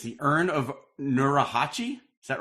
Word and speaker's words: Nurhachi: But so you made, and you're going to pronounce it better than me. It's the Urn of Nurahachi. Is that right? Nurhachi.